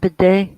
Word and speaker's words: bidet: How you pronounce it? Bidet. Bidet. Bidet. It's French.